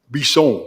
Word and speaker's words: Bisson: Just, Chairman, for everyone's benefit, it's pronounced Bisson. Bisson.